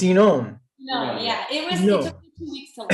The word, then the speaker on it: Inon: Natalie, is it Inon? Am I saying that right? Inon, yeah, Inon and Natalie. It's a tricky Hebrew. It's Inon.